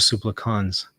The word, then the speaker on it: Supplicans: I think you added a T. You need to delete the T out of there. Some pronounce it supplicans or supplicans, but it definitely doesn't have a T in there.